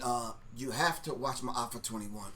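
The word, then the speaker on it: Maafa 21: talked about this um the pronunciation of the film that Quan is talking about is my offer 21 all right smile for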